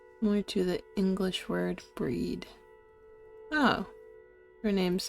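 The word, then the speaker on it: Bríd: the name Bridget I miss Irish saint it's pronounced with the long e h more to the English word breed oh her name's not bread it's breed let's breach breach no she doesn't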